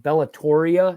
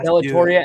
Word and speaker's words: Bellatoria: couldn't I couldn't remember how to say it bellatoria it's like the ultra thing bellatoria and this is the sausage Italian or Italian